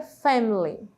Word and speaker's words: family: Family Family né família e na hora da fala nesse diálogo mais rápido nós não falamos a letrinha I Family nós não falamos e vogal por vogal sílaba por sílaba ela fica Family Family Ok e Aqui nós